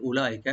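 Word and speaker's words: أولئك: উলাইকা, এখানে ওয়া যেটা আছে এটা টানবেন না, এটা সাইলেন্ট থাকবে, শুধু হামজাকে রাইট দিয়ে পড়বেন।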